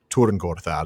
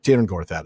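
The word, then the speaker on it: Tyrn Gorthad: If you watched Rings of Power, you might have heard it pronounced Turing Gorthad.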